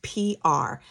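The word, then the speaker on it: Piard: The D is silent. My husband is Haitian and so it's French. Okay, so it's just pronounced P R kind of like uh abbreviation for public relations, PR.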